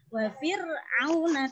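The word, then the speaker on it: وفرعون: Contoh ini, wa fir'auna, tetap meringis bacanya. Wa fir'auna. Nah, ini ada huruf ro sebelumnya berharokat kasroh, ro sukun sebelumnya berharokat kasroh, sesudahnya ada huruf ain, bukan huruf isti'la. Ini disebut bacaan tarqiq, cara bacanya meringis tipis gitu ya.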